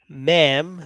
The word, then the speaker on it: ma'am: If you can see my comment here, I don't know if you can see that now, but ma'am.